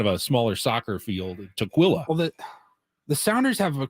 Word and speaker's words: Tukwila: Tukwila, Washington.